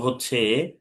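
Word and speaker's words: حاء: এই হার উচ্চারণ হচ্ছে কণ্ঠনালীর মধ্যখান চেপে পড়তে হবে।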